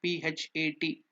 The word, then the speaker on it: Phat: It's not Phat, it is Phat, P-H-A-T, Phat. That's the mantra. So what is this Phat?